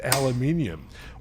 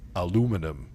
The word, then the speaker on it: aluminium: The case is solid aluminium, or as the Americans say, aluminum. So a lot of Americans are going to be sitting there going, "It's not aluminium, it's aluminum." No, it's not.